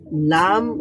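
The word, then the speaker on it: لام: আচ্ছা, লাম এটা কোথায় কিভাবে উচ্চারিত হবে? When the front of the tongue touch the gums of top front teeth from দাওয়াহিক টু সানাইয়া। দাওয়াহিক two Sanaya.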